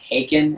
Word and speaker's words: Haken: I always feel like I'm saying it wrong, but like Haken or Haken. Hawking, yeah, I've been listening to I've listened to